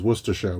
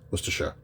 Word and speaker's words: Worcestershire: hear that pronunciation Americans Worcestershire we don't say Shire no one says Shire except for Hobbits Worcestershire um so The Story